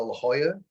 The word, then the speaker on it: La Jolla: to visit them I used to go to La Jolla is that how you say it yeah yeah